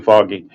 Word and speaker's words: Feige: I know his name is spelled funky compared to how it's allegedly said, but I think it's Kevin Foggy.